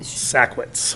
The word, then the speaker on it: Sachwitz: How do you pronounce is it Schwartz or is it? Sachwitz. Sachwitz, okay. There you go, thank you.